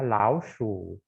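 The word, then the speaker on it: 老鼠: Oh, ternyata Tung adalah rumahnya tikus, ya, laoshu. Ya, perhatikan bacanya laoshu, shu di sini diiseng, ya. Kemarin kamu juga udah belajar kata lao, tapi laoshi. Nah, di sini bukan laoshi, tapi laoshu.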